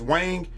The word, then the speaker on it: Wang: making fun of my Wang that's the real pronunciation of his name it's the Mandarin pronunciation of his name everybody to say is Wang you're saying you're doing